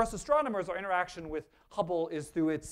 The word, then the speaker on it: Hubble: It rhymes with rubble. I heard someone say it. It's the Hubble Space Telescope.